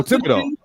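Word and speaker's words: Thibodeaux: Kevin Yeah, I don't even know how to pronounce that. Thibodeau. Kayvon Thibodeau. Oh, Thibodeau.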